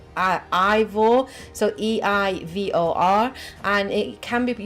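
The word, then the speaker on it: Eivor: do know that the main character is called a vol it's actually pronounced i eivol so ii i vor and it can be but you can play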